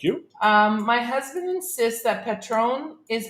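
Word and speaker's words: Patrón: Because normally in Spanish, in a word like this with 2 syllables, it would be the first, the second last syllable, which is the heavy one, unless there's a little thing on it, and that means it's heavy on the O. So heavy on the O for Patron.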